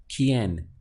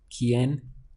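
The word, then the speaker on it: quién: who it would be quien in Spanish so we have this qu I pronounced as key and then en pronounced as n so the quien quien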